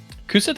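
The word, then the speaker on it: Cú Sídhe: Kusith's got Kusith actually is an Irish word. It's spelled Cusidhe.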